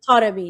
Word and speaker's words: Taremi: Is that Taremi? How do you say it? Taremi, yeah.